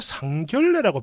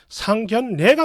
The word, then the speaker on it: 상견례: 그리고 상견례, 이것도 왜 상견례라고 발음을 하죠? 이러면 안 됩니다. 상견례가 맞는 거예요.